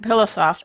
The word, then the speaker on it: Pilossoph: What do you say to people when they try to, wait a minute, let me spell it out. Pilossoph. Soft pillow backwards.